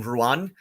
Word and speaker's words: Ruadhán: uh is Rowan and Ruan is close enough to how you pronounce Rowan um or Rowan is how is close enough to how you pronounce you know my name Ruan that you know ruine